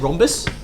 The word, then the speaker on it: rhombus: it like we said rhombus it's got a um silent h okay you often see